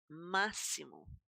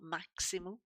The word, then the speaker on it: máximo: Máximo. It's not maximo, it's máximo.